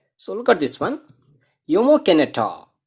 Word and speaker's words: Jomo Kenyatta: Jomo Kenyatta. So here J is there, but we want to pronounce differently. So that is Jomo Kenyatta.